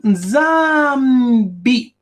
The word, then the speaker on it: Nzambi: And here, follow the arrow, we have the name Nzambi. The S is silent. So you have the name Nzambi. So one of the great children of Maani was called Nzambi. The S being silent.